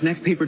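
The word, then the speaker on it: NXTPAPER: And babe, it's got this next paper display. Did you say next paper? Next paper. Next paper. Next paper. That's spelled NXT. Why' they drop the E? Cuz it looks cooler.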